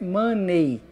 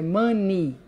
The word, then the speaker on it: money: OK mani Tá certo a pronúncia desse é y no final não é money é mani com i Tá certo então usando